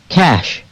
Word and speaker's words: cash: 그런 부분에 유의하면서 이 단어들의 원어민 발음을 들어보도록 하겠습니다. golf, golf. 2, friend, friend. shoes, shoes, cash, cash, strike, strike, bridge, bridge, hand, hand, 네, 골프가 아니라 golf죠.